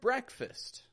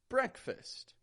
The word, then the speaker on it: breakfast: f a s t however notice even though this is spelled with an e and an a I'm not saying break fast Bray break fast but that E and